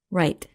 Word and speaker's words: write: Here are three pairs of words that are homophones and where one of the words in each pair begins with the silent W.